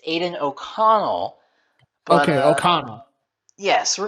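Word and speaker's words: Aidan O'Connell: flip podcast without Martin Kelly messing up a pronunciation it's it's Aiden oconnell but okay oconnell yes we're gonna roll the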